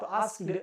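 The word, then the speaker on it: asked: अब जब इसको हम प्रोनाउंस करेंगे तो आस्क्ड ऐसे नहीं बोलेंगे, सिंपली हम बोलेंगे आस्क्ड। यानी के को प्रोनाउंस नहीं करेंगे, सिंपली बोलेंगे आस्क्ड। गॉट इट।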